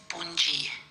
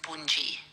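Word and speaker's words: Bundyi: good time in Melbourne the pronunciation is Bui Bui so Dy makes the J sound in our alphabet so it's Bui thank you say hello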